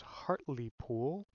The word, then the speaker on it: Hartlepool: of our own team been informed it is hartley pool i will work on